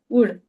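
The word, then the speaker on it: would: these वर्ड्स यू शुड यूज़ एज कुड शुड वुड okay L is silent in that most of the times वो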